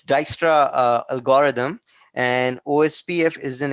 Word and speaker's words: Dijkstra: right it uses Dijkstra it's really hard to pronounce I'm telling you it's Dijkstra algorithm and OSPF is an example for the